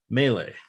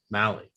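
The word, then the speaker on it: Mahle: him out yet and then you've got tyler mele mally mally there we go mally i dropped those links into chat so people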